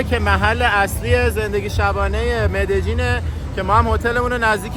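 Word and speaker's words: Medellín: بار میگیم اد جین کلاً این د تا ال توی زبون اسپانیایی وقتی میذارن این ل خونده نمیشه ی خونده میشه ولی همین ی تو یه سری از کشورا ج تلفظش میکنن یه سری جاها ژ تلفظش میکنن و آرژانتینی‌ها از همه بدتر ش تلفظش میکنن خود کلمبیایی یه چیزی بین ژ و ج میگن واسه همین وقتی میای کلمبیا باید بگی مد جین یا مد جین یکی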